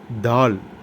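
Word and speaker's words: ت: தா தா என்பது ஆங்கிலத்தில் உள்ள டி என்ற எழுத்தை உச்சரிப்பது போல தா என்று உச்சரிக்க வேண்டும்.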